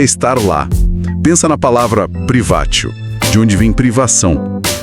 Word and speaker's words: privatio: Privatio, que se pronuncia privatio, Privatio.